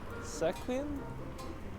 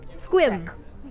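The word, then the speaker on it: Sequim: Long E for sure. Sequin? No. It's one syllable. You've got to be kidding me. Squim.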